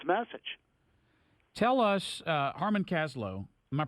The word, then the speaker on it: Harmon Kaslow: Tell us, Harmon Kaslow, am I pronouncing that correctly?